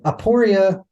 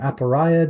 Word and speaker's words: aporia: there we go so aoria or aporia depending on how you might pronounce it but this is where